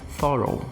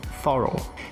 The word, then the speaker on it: thorough: Enquanto que essa última palavra, a pronúncia vai ser thorough, thorough.